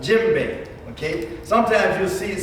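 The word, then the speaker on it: djembe: like okay say if somebody's first name was jim right and their last name is what babe so this drama is called what gym baby okay sometimes you'll see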